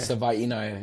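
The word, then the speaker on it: Savaiinaea: Jonah Savaya. Savanaya. Okay. Savvaya.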